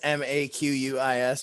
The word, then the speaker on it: Marquis: Yeah, the R is silent. That's the Marquis de Sade, like that. That's not the same fucking thing. I'm just kidding. Anyways, it's just Maquis.